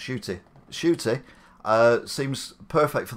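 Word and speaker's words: Ncuti: other roles uh where are we where it's pronounced shooty shooty uh seems perfect for the doctor i've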